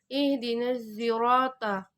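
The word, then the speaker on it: اهدنا الصراط: riwayat yang lain, yaitu cara bacanya itu adalah perpaduan campuran huruf sad dan huruf zai. Cara bacanya yaitu ihdinas sirota.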